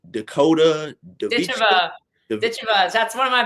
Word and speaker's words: Ditcheva: I don't know how to say her last name, but it's Dakota Ditcheva. Ditcheva. That's one of my best friends. That's my girl. Yeah. Say it again. How's the last name? Ditcheva.